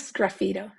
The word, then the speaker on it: sgraffito: Well, the first question you may ask is, what is sgraffito? Sgraffito, like they pronounce it in Italy, simply means scratching in Italian.